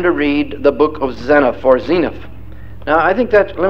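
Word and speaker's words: Zeniff: It's Zenith, not Zenith. Okay, we'll say Zenith from now on. Right. That is the Hebrew pronunciation.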